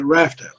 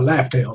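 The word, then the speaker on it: Laugh Tale: But his speculation was to who's going to be on the crew when they get to Raftail or Laugh-Tail, depending on how you say it. Heard it both ways.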